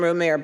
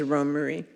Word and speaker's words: Romare: Sometimes I slip and call him Romair, but his the the accurate pronunciation is Romare.